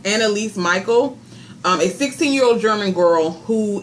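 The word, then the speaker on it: Anneliese Michel: The film was inspired by, I think it's pronounced Anneliese Michael, a 16-year-old German girl who in 1968 began displaying symptoms of demonic possession.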